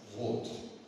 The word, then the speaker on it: Roth: Je suis euh le fils de Ernest R, lui-même fils de Ernst Rot. On prononce R à l'allemande puisque c'est un haut long.